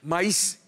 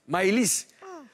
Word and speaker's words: Maëlys: Maïs. Maëlys. Maëlys. Faut prononcer, faut dire Maëlys.